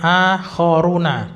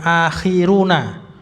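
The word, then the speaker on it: آخَرُونَ: Wa akharuna ini bacanya akhoruna bukan akhir tapi akhoruna.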